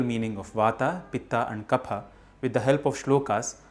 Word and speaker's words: Kapha: Vata, Pitta and Kapha. Yes, it's pronounced Pa, not Fa.